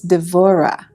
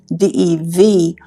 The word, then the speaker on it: Devorah: our a-h and then in Hebrew it's devorah d-e-v-o-r-a-h devorah and I think